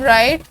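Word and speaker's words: write: W in right, K in kneel, H in honest.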